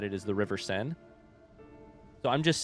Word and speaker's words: Seine: The way I've always said it is the river Seine. So I'm just saying Seine kind of like that because it's like that without an E on the end, I think.